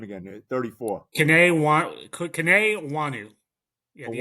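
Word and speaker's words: Kene Nwangwu: Kane Wanu.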